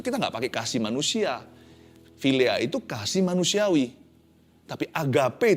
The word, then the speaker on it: philia: Tapi kasih filea. Bacanya filea tapi ejaannya phi i l i a.